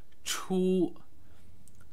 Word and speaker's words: 出: the basic chinese word choo choo pronounced in the first tone which means out here